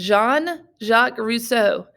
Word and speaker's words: Jean-Jacques Rousseau: This is Jean-Jacques Rousseau, not Jean-Jacques Rousseau. A lot of people mispronounce his name. It is Jean. It's French.